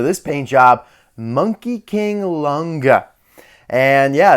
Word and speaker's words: Long Ge: it been now 13 years it's actually just pronounced longa like I have a really good Chinese friend and she was like what the heck are you saying it's not long it's longa so that's where we're at right now it's